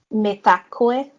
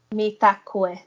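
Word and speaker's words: Mitakuye: Metakue. Mm. Wait, say it again. Me? Yeah, say it again. Metakue. Mitakoi.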